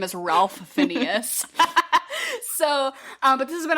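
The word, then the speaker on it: Ralph Fiennes: If we pronounce his name is Ralph Phineas.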